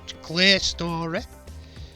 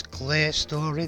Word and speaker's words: Clerestory: Clear Story. It's spelt Clerestory, but I think it's Clear Story they say.